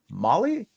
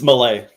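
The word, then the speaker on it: Maile: is that Ma male Molly how do you pronounce m a i l e yeah it's Malay Malay that's right I bet you that's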